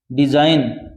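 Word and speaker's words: design: टापू यह क्या है डिजाइन डिजाइन का अर्थ क्या नमूना यहां पर जी साइलेंट है डिजाइन यह थोड़ा ध्यान रखना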